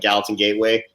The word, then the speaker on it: Gallatin Gateway: often, but we're getting married in Big Sky, so like Gallatin Gateway.